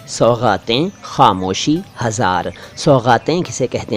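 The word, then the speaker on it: सौग़ातें: यहाँ बात करूँगा तीन शब्दों की, सौगातें, खामोशी, हज़ार। सौगातें किसे कहते हैं? देखिए, सौगात नहीं, सौगातें, गा के नीचे नुक्ता।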